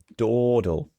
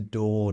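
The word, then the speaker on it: dawdle: d l e is Dole no time to Dole dle so I say it with more just a short o sound do dottle no time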